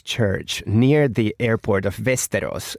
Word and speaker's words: Västerås: So basically there's a Russian Orthodox church near the airport of Västerås. That's the correct pronunciation, by the way, in Sweden.